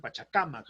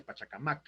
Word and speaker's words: Pachacamac: pachacamac se dice en pachacamac a no se dice pachacamac están mal acuérdense que los vocablos quechuas no admiten las las voces agudas entonces no es pachacamac